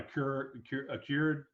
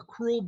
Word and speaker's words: accrual: when you're talking about bookkeeping, you're talking about a cured. Is that how you pronounce it? System or cash basis. That's the two different main ones. Is that right? Yeah, cash basis or accrual basis.